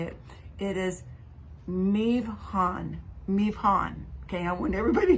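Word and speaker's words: מבחן: It is mivhan.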